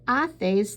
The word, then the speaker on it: haces: Now remember again that Q-U-E sounds like the letter K in English, and haces, that H is silent.